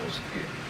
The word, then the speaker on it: 노스틱: 노스틱, 발음을 하는 노스틱, 그노시스라는 지식이라는 말의 의미가 가미해 있어요.